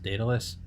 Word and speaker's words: Daedalus: ever heard a project I don't I to pronounce it dadelus Daedalus yes the the later version interplanetary Society yet